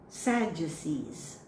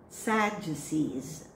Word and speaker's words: Sadducees: Sadducees. Sadducees.